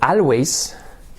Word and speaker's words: always: For example, you say siempre, escrito always, and instead of an A, we pronounce a O.